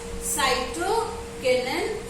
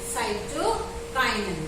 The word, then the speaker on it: cytokinin: Rapid cell division is taking place due to a hormone known as cytokinin, cytokinin. Both the pronunciations are correct.